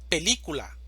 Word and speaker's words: película: Película, división silábica. Película. Sílaba tónica. Li. Película. Química, división silábica.